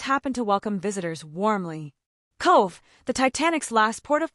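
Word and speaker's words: Cobh: Cove, the Titanic's last port of call, pronounced Cove, this harbor town in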